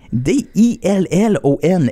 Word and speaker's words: Dillon: qui s'écrit D-I-L-L-O-N, et non, comme t'avais dans notre classe au secondaire, D-Y-L-A-N. Mais lui, c'est Dillon. Dillon.